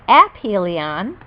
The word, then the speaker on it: aphelion: from the Sun called aphelion pronounced aphelion it travels at its slowest